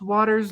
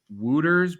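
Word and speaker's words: Wouters: I believe it's pronounced Waters. Now I thought it was Wooters, but Sandra Prusino is saying Waters, so I'm going to go with her pronunciation because she is she's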